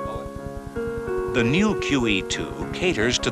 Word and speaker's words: Moët: Moët is a Dutch name, and with proper names, the rules do not apply, so it is properly pronounced Moët.